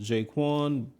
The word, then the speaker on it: J'Qwan: As you can see, the name of the channel is pronounced Jaquan.